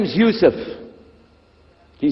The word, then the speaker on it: Yusuf: itah my name is Yousef can you say Yousef you say Yousef you're very good I wish you teach my wife she keeps mispronouncing it she calls me useless hamdulillah now how many